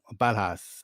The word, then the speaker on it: Ballhaus: One of your mentors was Michael Balhas. I think that's how I pronounce his surname.